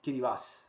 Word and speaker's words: Kiribati: interesting thing is that the current way to pronounce the the world of this country is kirivas yes and so you grow kiriwati yes but you pronounce it and it's really